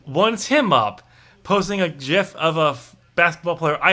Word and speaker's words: GIF: It's a gif. It's not graphics, okay? It's graphics. It's a GIF. It's a hard G.